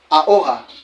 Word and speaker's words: ahora: Hola, bien qu'il y ait le H. Ici là, ahora. Passons avec le G.